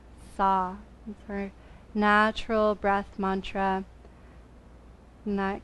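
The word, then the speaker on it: sah: breath naturally flows out repeat the syllable saw s-a-h and there is something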